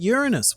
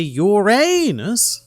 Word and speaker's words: Uranus: And I actually really like how this article has the correct way to pronounce Uranus, which is apparently Uranus, which is really fun to say, but still really Greek.